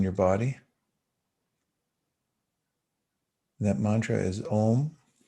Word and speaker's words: Om: On the next 2 mantras, close your lips when you pronounce the M in Om and really feel your voice box working.